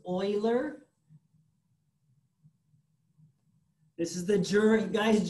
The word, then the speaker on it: Euler: right it's box concerto same thing euler not euler one of my pet